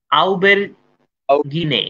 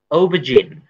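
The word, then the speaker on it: aubergine: যেমন একজন লিখেছিল এরকম আউবের গিনে, আউবেরগিনে না, আউবেরগিনে হচ্ছে না। আচ্ছা আচ্ছা, তাহলে এরকম না, উচ্চারণটা কি হবে? এটা হচ্ছে ও ভার্সন, ওবজিন, ও ভার্সন। হ্যাঁ, এর সাউন্ডটা মাঝখানে একটা আলাদা সাউন্ড আছে, জা জিন জা, এরকম একটা সাউন্ড আছে এখানে।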